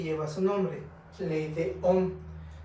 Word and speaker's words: Ohm: En 1827, el físico George Simon Ohm enunció la ley que lleva su nombre, ley de Ohm. Se pronuncia Ohm como si estuviéramos meditando Ohm.